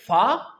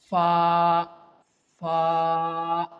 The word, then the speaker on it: ف: Fa. Fa. But sometimes we pronounce it like fa fa. This is the wrong pronunciation and wrong articulation point.